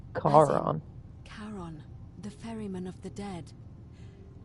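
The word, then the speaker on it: Charon: it's just as you described it only your pronunciation is a little off the name you heard wasn't Karen it was c h a r o n Kon karon the Fairman of the Dead karon who in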